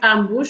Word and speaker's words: ambos: out it's ambush now i don't know whether that's ambos with a sun you said it right ambush but it's a word